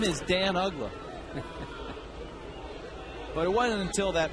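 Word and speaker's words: Uggla: listed as Nick Nick and it had the pronunciation spelled out UGA I was like hey everybody meet Nick Ola and so ugla just happen to be in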